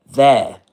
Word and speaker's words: there: How do you pronounce that word? That's there. There in southern standard British English in modern RP.